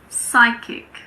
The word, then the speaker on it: psychic: Well, we don't pronounce P if it comes at the beginning of a word before an S. For example, pseudoscience, psychiatrist, psychic, psychology. It's also silent in front